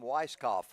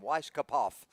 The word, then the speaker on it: Weiskopf: early 70s and Tom weiskopf was a big golfer at that time and one of my buddies called him Weiss kapov and I said why did you pronounce both letters and he said well